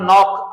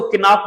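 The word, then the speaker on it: knock: उसके बाद नॉक, अक्सर लोग इसको किनाक बोलते हैं, ये किनाक नहीं होता, ये नॉक होता है, यहाँ पर के साइलेंट होती है, नॉक, नॉक।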